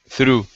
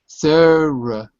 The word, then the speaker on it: thorough: Through. No. No? No. Through? It's actually 2 syllables.